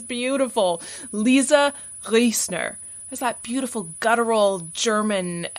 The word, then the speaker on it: Riesner: lovely voice notes saying, don't worry about the proper German pronunciation of my last name. If you can't do it, just say Lisa Riesner, like they say in the States.